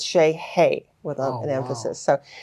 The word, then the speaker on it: Sellyei: say that again and it's like a heavy Accent on the y-e-i it's like that almost like German like hey like like like hey there how are you so it's Shea hey with an emphasis so